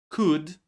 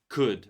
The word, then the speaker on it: could: words like should, would, could. Remember that these words we don't say L. These are modal verbs and we don't pronounce L in these words.